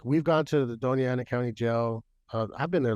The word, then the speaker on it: Doña Ana: Is it Doniera, or how do you say it? Doña Ana.